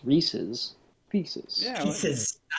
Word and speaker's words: Reese's: Well, it's supposed to rhyme with pieces, Reese's.